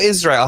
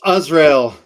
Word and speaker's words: Azrael: Is it Azrael or Israel? How do I pronounce it? It's Azrael. Azrael.